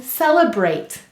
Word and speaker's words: celebrate: Let's read it. S-e-l-e-b-er-ate. Celebrate. Now you'll notice that this was saying its schwa sound, And remember, any vowel may say or I in an unstressed syllable.